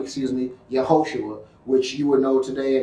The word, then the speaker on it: Yehoshua: Hebrew name excuse me Yehoshua which you would know today an English transliteration is Joshua but it's actually pronounced Yehoshua in RNA which is